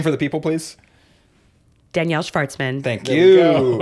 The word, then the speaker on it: Shvartsman: Danielle Shvartsman. Thank There we go. you. It's not Danielle Shvartsman. That's actually how you say it in the native. Yes. In the Neil. home country. Yes. Danielle Please. Shvartsman.